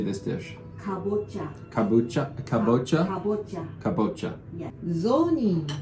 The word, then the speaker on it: kabocha: Kabocha.